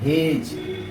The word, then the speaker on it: hedge: तो इसलिए यहाँ एज पढ़ा जा रहा है, और यहाँ जी के बाद ये है तो इसलिए पढ़ा जा रहा है हेज।